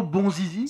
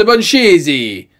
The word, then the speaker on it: Bonzizi: alors c'est toi Pierro bonzizi ça se prononce bonchizi c'est italien je suis célèbre là-bas